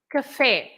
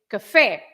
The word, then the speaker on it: café: So if you have that accent over the E, that means that you should say café. You don't say café, right? You say café. You stress the last part.